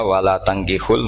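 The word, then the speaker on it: ولا تَنكحوا: Jadi ya, saya ulang lagi ya, mestinya bacanya wala tangkihul musyrikati hatta yu'min bi fathit ta.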